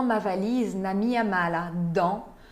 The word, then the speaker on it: dans: Dans ma valise, na minha mala, dans, não se pronuncia o S final, dans.